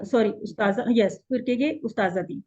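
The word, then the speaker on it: أستاذة: Sorry उस्ताजा, यस, फिर कहेंगे उस्ताज़ाती, क्योंकि उस्ताजा हम बोलते हैं ना, ता को साइलेंट एंड में कर देते हैं ना, वैसे होता है उस्ताजा।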